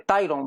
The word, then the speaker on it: Tyrone: Hoy tenemos la bendición de Dios de tener al señor, me cuesta pronunciar el nombre, Tyron, ¿verdad? Tyron Mayorga. Ajá, está bien, correcto.